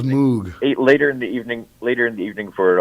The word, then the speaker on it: Moog: But is that how you say it, Moog? I always thought it was Moog.